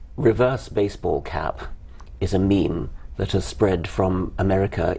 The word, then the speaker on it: meme: and just called it meme I wanted something that ideally should have rhymed with Gene but it doesn't quite rhyme with Gene it's a sort of